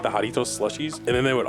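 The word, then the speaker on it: Jarritos: You're mispronouncing it, Ben. It's Haritos. You got to do the little screech.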